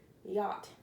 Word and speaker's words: yacht: while you were reading it's been a lie ACH but you don't really pronounce the sea or the age yacht and yacht is just a big